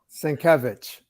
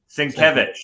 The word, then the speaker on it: Sienkiewicz: Sienkiewicz. Sienkiewicz.